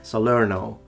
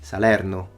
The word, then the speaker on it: Salerno: puzzled by people who say oh his Italian pronunciation is perfect no it's not he says Salerno which sounds very American we say Salerno he says enzio we say ansio so no